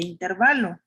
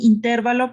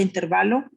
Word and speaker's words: intervalo: así como se pronuncia intervalo y pueden incluso buscarla en el diccionario no está acentuada en la e entonces cuando no tiene esa tilde verdad del acento recae en la penúltima sílaba que es este intervalo